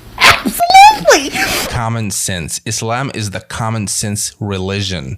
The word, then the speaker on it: Islam: in the previous video somebody commented that I was pronouncing Islam and Muslim wrong cuz I was using a z sound instead of a so a soft s and I don't know